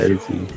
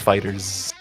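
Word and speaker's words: FighterZ: Fighter Z. No. It's pronounced as Fighters.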